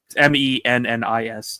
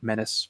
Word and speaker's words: Mennis: Actually, I just when you pronounce his name, but it's Mennis, not like Menace.